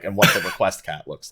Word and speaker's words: Requiescat: pronounce as India's requiescat no no it's not wreck requiescat its request cat yeah I'm sorry request